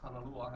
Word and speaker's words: Kanalua: Because Kanalua has a kahako or the a. Say it Kanalua. So when we say it Kanalua instead of Kanalua. It's a totally different.